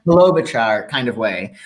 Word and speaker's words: Klobuchar: Klobuchar kind of way.